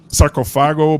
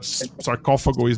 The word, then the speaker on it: Sarcófago: Sarcófago, some yeah, people say sarcophago, but sarcófago is that's how we pronounce it here.